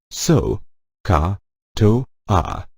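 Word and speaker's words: SOHCAHTOA: It is pronounced so, ka, to, a.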